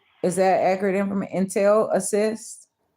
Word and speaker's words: Intel Assist: Intel assist. Not Intellis. Intel assist. Two different words. So Intel assist, right? Is that accurate information? Intel Assist.